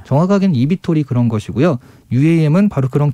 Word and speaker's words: eVTOL: EVTOL이라고 읽거든요. EVTOL이라고 네, 뭐예요? EVTOL. Electric, EVTOL.